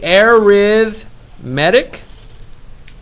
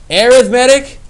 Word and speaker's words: arithmetic: sequence is um and i say air with medic but just like you can pronounce tomato or tomato it doesn't matter how you say it that means the same thing tomato or tomato means